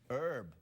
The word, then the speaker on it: herb: born in America an herb listen I'm an American citizen now I would like to propose an amendment to the Constitution you have to say the letter h and hair do you have herbs